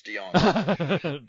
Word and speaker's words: DeJonge: Hey, at least we're not pronouncing the J, it's DeJonge.